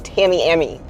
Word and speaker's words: Tamiami: Our older kids just moved here from Orlando, and they keep stumbling over pronouncing Tamiami Trail. I'm like, no, it's Tamiami.